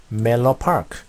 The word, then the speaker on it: Menlo Park: 그래서 러가 아니라 멜로 파크, 멜로 파크. 자, 부드럽게 멜로, 멜로처럼 발음하면 되겠습니다.